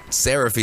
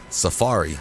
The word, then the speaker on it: safari: is this what happened why'd he say it's sarafi serafi is how you said it okay how is it supposed to be said Safari okay so Safari the